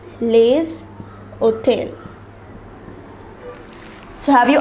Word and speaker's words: les: plural so any noun that is in plural will be preceded by lay for example we saw the word garson for the article we say however if it is in the plural form say garcons then instead of love we will place lay similarly for the word see when it is singular you will say la fi however in the plural form it becomes lay fee even the words which